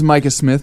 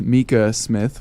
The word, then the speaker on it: Micah: My name is Micah Smith, not to be confused with Mika Smith, which is how the announcer at the last radio interview we did pronounced my name immediately after just pronouncing